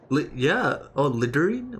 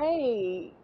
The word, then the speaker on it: lingerie: Lingering? Wait, What? lingering? Lingering? Oh my Oh, it's God. underwear. Oh, that's what they call it. Lingerie.